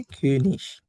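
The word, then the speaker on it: König: যেমন যেমন কিং, রাজা, এটাকে আমরা বলি হচ্ছে কিউনিশ, শেষে আইজি। আর আমরা প্রোনাউন্সিয়েশনের ক্লাসে অলরেডি করে ফেলছি যে শেষে যদি আইজি থাকে তাহলে আমরা এটাকে তালব্যস্বরের মতো উচ্চারণ করি।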